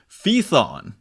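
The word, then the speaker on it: Phaethon: ID's Metamorphoses uh you get the story of feon is how you pronounce it P H AE t h n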